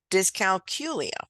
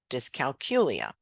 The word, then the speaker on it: dyscalculia: you say it technically disc calcula for that calculus in the middle that's hard to say I forget the y in the middle myself but that is technically the right pronunciation disc calcula what you hear mostly